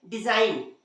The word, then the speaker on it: design: उसी तरह से डिजाइन, DESIGN, इसे भी हम डिजाइन नहीं पढ़ते, क्या पढ़ते हैं, डिजाइन, वहां भी जी साइलेंट है।